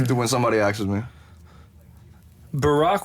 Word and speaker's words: Barack: Barack rhymes with macaque.